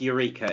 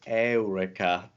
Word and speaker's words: Eureka: It's definitely pronounced Eureka, isn't it? Back me up on this, Chris. Eureka, darling. English lessons is Eureka. Thank you. But in ancient Greek is Eureka.